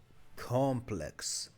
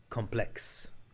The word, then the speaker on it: complex: Cause like, if you're talking about like an apartment complex or an office complex, then it's, you know, with the emphasis on the first syllable. But if you're using it as an adjective, then I hear it as complex.